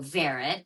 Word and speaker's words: Varat: So, Varit rhymes with carrot.